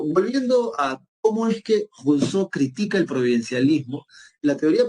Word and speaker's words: Rousseau: bien, se llama Jacques Rousseau, ¿verdad? O Rousseau, si quieres pronunciarlo en castellano, ¿no?